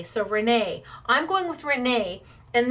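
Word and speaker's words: Renae: Is this Renee? R-E-N-A-E. Yes. So yes, I've never seen Renee spelled like this, or maybe I have and I just didn't know it was Renee.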